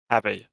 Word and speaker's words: Havey: It's just the word have with the Y on the end. Think of it like that. Yeah. Hey, Mr. Havey.